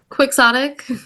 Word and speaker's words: Quixotic: Quixotic.